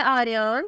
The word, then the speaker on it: Aaryan: नाम है आर्यन। स्पेलिंग है AARYAN।